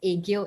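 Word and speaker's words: 애교: So, could you please share more about what Aegyo is? Okay, so egg yolk cakes. So it's actually pronounced egg and then yo.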